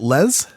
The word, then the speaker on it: Les: Chronicles we have a guest joining us Les is on the phone and welcome to the show thank you very much and I hope I hope I got your last name pronunciation okay is it Les it's Les Les okay fantastic thanks for being